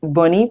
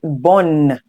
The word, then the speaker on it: bonne: So you see that the NE is, you do not say bonnie. Please know the E is silent, but you say bonne. That's to show you that the double N, you pronounce in the two N's, bonne.